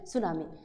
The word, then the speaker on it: সুনামি: আসি সুনামি সুনামিটা কি সুনামি শব্দটা হচ্ছে জাপানি একটা শব্দ যেটা আমরা যদি ইংলিশের স্পেলিং দেখি তাহলে কি হবে স্পেলিংটা হচ্ছে টি এস ইউ এন এ এমআই এটাকে বাংলায় আমরা উচ্চারণ করি সুনামি সুনামিটা হচ্ছে অর্থ যদি